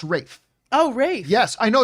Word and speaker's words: Ralph: that's ray fines is ralph fans it's pronounced rafe oh race yes i know it's it's spelt ralph it's totally spelled ralph but it's actually called ray no wraith and